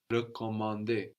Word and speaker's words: recommander: And you can tell which E sound you need as the E of recommander, for example, is written with a normal E, like in je and like in le, just an E, where the E of réserver, réparer, is written with a little accent over it, a little dash going up from the E, which lets you know to pronounce a stronger E, réserver, réparer.